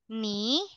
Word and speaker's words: knee: We have Forehead, forehead, hand, hand, arm, arm, elbow, elbow, elbow, knee, knee. This is silent K when silent knee.